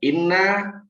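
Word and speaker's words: إنّ: Yang pertama inna, ini ada tasdid, dibacanya inna artinya sesungguhnya.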